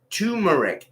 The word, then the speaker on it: turmeric: I've always said turmeric. Oh yeah, Lando Kellerian. Yeah, look at a package of turmeric and you'll see it is tur.